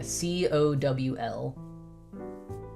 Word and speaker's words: cowl: C O W L. I'm assuming it's pronounced cowl. like howl.